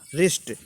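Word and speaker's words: wrist: रिस्ट, रिस्ट means कलाई, देखो डब्लू को साइलेंट कर रहा हूँ।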